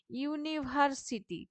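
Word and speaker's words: university: এন বসাচ্ছে ঠিক আছে ইউনিভার্সিটি ঠিক আছে ইউটা ইউ উচ্চারণ হচ্ছে সেইজন্য এখানে এ বসানো হচ্ছে ঠিক আছে এন ইউরোপিয়ান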